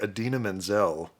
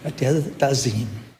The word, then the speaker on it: Idina Menzel: Although he's pragmatically marrying Adina Menzel. So... Good job, pragmatism. And way to pronounce the name correctly. The wickedly talented one and only Adele Dazeem.